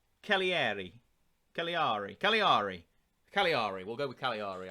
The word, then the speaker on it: Cagliari: Then, the special thanks to FM22 for telling me how to pronounce this team's name. It's Cagliari.